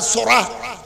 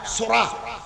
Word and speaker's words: psora: বিজ্ঞানীগণ বলছেন, মনের ভিতরে যদি কুধারণা আসে, কুখেয়াল আসে, রক্তের ভিতরে একটা উপাদান আছে সোরা, PSORA, পিটা উচ্চারণ হয় না, সোরা।